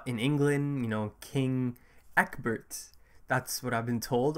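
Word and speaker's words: Ecbert: that was in a different language but apparently Ebert is uh the more common pronunciation so I'll stick with that so unfortunately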